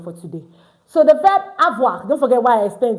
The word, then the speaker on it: avoir: So the verb awa don't forget why I explained this.